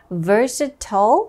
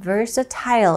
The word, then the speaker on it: versatile: 있느라고 할 때요 이렇게 versat 혹은 versatile 이렇게 두 가지로 발음할 수가 있습니다 versatile South Korean artist